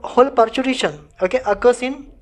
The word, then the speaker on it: parturition: अब ये जो पूरा कंप्लीट पार्चुरेशन प्रोसेस है दोस्तों, यहाँ पे स्पेलिंग थोड़ा सा रॉन्ग है, this is पार्चुर नॉट पार्चुरेशन, this is actually पार्चुरेशन।